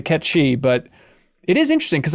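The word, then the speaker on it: Cait Sith: from ays to aith I'm happy changing from Kate Sith to KET shei but it is interesting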